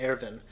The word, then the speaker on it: Erwin: It looks like it's spelled Irwin, but it's pronounced Erwin.